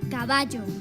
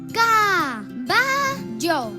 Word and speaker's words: caballo: Ahora vamos a descubrir la sílaba tónica de la palabra caballo, ayudados, como no, por nuestra querida trompeta. Caballo. A ver otra vez. Caballo. Está claro, la sílaba tónica es ba.